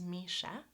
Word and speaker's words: Misha: So, for example, my name, which is Misha, has two syllables, Misha, and two vowel sounds, right? E, me, and a, sha. And my name, Larissa, has three vowel sounds.